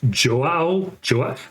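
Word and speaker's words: João: apologize, I think it's Joao. I don't know how you say it. Joa. Okay, so you don't pronounce that last O. It's Portuguese.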